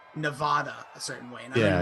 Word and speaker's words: Nevada: think cough was getting called out for saying nevada a certain way yeah it's supposed to be nevada nevada yeah and then so we were saying